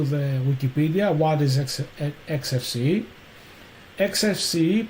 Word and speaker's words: XFCE: XFCE, pronounced as four individual letters, is a free and open-source desktop environment for Linux and other Unix-like operating systems.